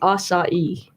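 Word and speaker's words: açaí: We're not pronouncing it correctly, Doug. It's actually acai.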